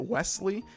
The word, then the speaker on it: Wesley: misspells my name because the way I pronounce it, Wesley, it sounds like there's a T in there.